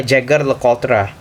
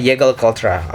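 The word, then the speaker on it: Jaeger-LeCoultre: Dulu gue waktu pertama kali masuk dunia jam, gue panggilnya adalah Jaeger LeCoultre. Nah, sekarang gue kayaknya mulai improve cara gue pronounce. Jadi gue ngomongnya Jaeger LeCoultre.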